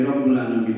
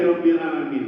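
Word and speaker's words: رَبِّ الْعَالَمِينَ: Tapi kalau kemudian tanpa alhamdulillah kan jadi Rabbul Alamin membacanya. Jadi alhamdulillahi Rabbil Alamin.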